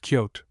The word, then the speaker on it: coyote: Wolves were very abundant along the route of the explorers, the most numerous species being the common kind, now known as the coyote, pronounced kyote, and named by science theanis latrance.